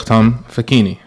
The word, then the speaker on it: Facchine: I have with me a good friend of mine from Medina, Sheikh Facchine, right? Did I pronounce it correctly? Yes, that's right. Facchine.